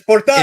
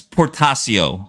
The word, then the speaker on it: Portacio: Which name? Portacio? It's Portacio. It's Whilce Portacio.